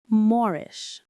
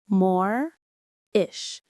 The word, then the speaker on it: moreish: Morish. Moreish. Stress on the first syllable.